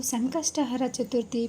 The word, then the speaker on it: ಸಂಕಷ್ಟಹರ ಚತುರ್ಥಿ: ನಾನು ತಿಳಿಸಿಕೊಡ್ತಾ ಇದೀನಿ ಮೊದಲಿಗೆ ಸಂಕಷ್ಟಹರ ಚತುರ್ಥಿ ಅಂತಾನೆ ನಾವು ಹೇಳಬೇಕಾಗುತ್ತೆ ಸಂಕಷ್ಟಿ ಅಂತ ಅನ್ನಬಾರದು ನಮಗೆ ಬಂದಿರೋ ಕಷ್ಟನ ಹರಸು ಹರ ಮಾಡಪ್ಪ ಅಂತ ಹೇಳಿ ಸಂಕಷ್ಟಹರ ಚತುರ್ಥಿ ಅಂತಾನೆ ನಾವು ಉಚ್ಚಾರಣೆ ಮಾಡಬೇಕಾಗುತ್ತೆ ಸಂಕಷ್ಟಿ ಸಂಕಷ್ಟಿ ಅಂತಾರೆ ನಮಗೆ ಅದು